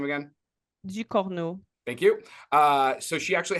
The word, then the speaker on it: Ducournau: Ducournau.